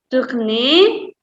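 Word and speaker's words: tournent: Vous tournez, nous tournons ya. Tournons, selanjutnya il sama L jamak, ENT-nya tidak dibaca, jadi tourne ya guys.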